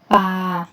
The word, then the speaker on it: ป่า: ว่า อะไร คะ ป่า ปอ อา ปา ไม้ เอก ป่า ป่า ป่า ๆ นะ